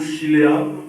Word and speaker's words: Shiloh: Alors, le thème de ce matin s'intitule Shiloh. Pour ne pas écorcher le hébreu, parce que celui qui l'a prononcé, il l'avait prononcé en araméen. Shiloh ou Shiléa, c'est la même chose.